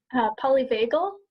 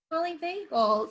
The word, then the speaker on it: polyvagal: Polyvagal. Polyvagal. See, we're all learning things today, including how to pronounce the word polyvagal.